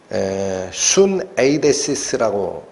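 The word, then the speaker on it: συνείδησις: 그래서 여러분 양심이라는 말이 헬라어로 순 에이데시스라고 읽힙니다. 순 에이데시스.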